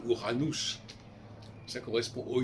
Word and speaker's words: Uranus: Uranos, parce que c'est comme ça qu'il faudrait le prononcer, Uranus, ça correspond au 8.